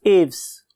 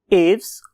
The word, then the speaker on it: Aves: का नाम है class एव्स. When I was listening its pronunciation, तो मुझे दो किस्म की pronunciation मिली. उनमें से एक एव्स और बहुत से लोग इसे एविस भी बोलते हैं.